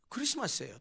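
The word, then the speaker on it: Xmas: 마라고 읽어도 안 됩니다 뭐라고 읽어야 됩니까 크리스마스예요 똑같이 크리스마스예요 단순히 약에서 표현했을 뿐이지 읽을 때는 똑같이 크리스마스로 읽어야 됩니다 그런데 요즘 사람들이 X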